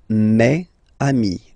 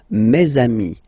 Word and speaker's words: mes amis: It's the plural form, so it's mes amis, okay? And then let's be purist and make this beautiful liaison between these two words. Mes amis, mes amis, mes amis.